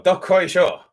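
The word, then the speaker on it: どっこいしょ: The two words are dokoisho and soran. Yes, that Dokoisho. Close enough. It's one word though. Dokoisho.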